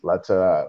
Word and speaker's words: Lataillade: just myself and special guest tonight, Sister Lataillade. Am I pronouncing that right? Lataillade. Lataillade.